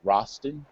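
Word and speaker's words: Rastan: the name of the game i believe is pronounced rosten r-a-s-t yes it's an old-school classic game now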